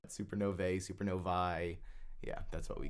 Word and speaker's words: supernovae: studying exploding stars or supernovae which is the proper way to say more than one Supernova so it's not supernovas I've heard people use